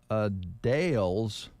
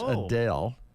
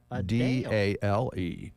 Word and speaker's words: Adele: hot uh today yes is the start of a Dale's shows in Vegas you mean Adele no no okay all right she just explained recently that everybody's been pronouncing her name incorrectly oh really everybody says Adele yes like is in d-e-l-l yes she says